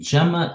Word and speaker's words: Gemma: Google release Gemma and Gemma is an open version based on Gemini so I pronounce it Gemma not gamma because Gemini is definitely Gemini okay and you can